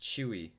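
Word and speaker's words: Tzuyu: nine members I know that already something youngest pronounced chewy okay I'm excited December 4 accounting traits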